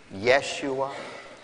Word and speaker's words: Yeshua: Jesus perhaps you've heard how a Jew would pronounce it Yeshua or yahushua the name